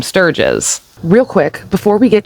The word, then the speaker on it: Sturges: However, in these clips, you are going to hear people online refer to Sturgis as Sturgio. And that's just like the internet doing what it does. One person mispronounced it, others repeated it, and suddenly the algorithm decided that that was his name. But correctly pronounced, it's Sturgis.